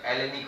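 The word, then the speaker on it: Hellenic: जैसे ऑनेस्ट में एच से स्टार्ट होता है, एच साइलेंट होता है ना, हेलेनिक का एच साइलेंट कीजिए तो एलेनिक हो जाएगा।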